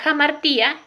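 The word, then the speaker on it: hamartía: La jamartía, ¿sí? Se escribe con H, pero se pronuncia como J.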